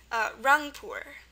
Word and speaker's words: Rangpur: So this one is U with 1 dot, pronounced as in good, and thankfully there's only one way to spell it in both languages. It's going to be just a U. Very simple, as in the word Rangpur. Rangpur.